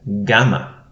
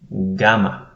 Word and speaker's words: gamma: one is the letter gamma gamma it is equivalent to our letter g but g as in game for instance not as in general for instance gamma um as as